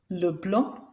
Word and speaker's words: Leblanc: Notice again, that's right, the last letter isn't pronounced. Simon, Leblanc, Girard.